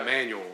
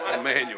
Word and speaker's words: Emmanuel: You say Emmanuel. That's how you say it. Emmanuel.